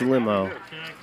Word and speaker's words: Limo: Lee I said man I'm almost positive her name is Nikki limo I did my homework I'm a good commentator I said trust me it's limo and it cost me